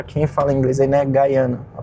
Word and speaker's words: Guyana: Guyana, a pronúncia certa.